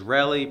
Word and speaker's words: Relly: In the meantime, if this is your first time here, my name is Relly, pronounced like jelly, but with the R instead.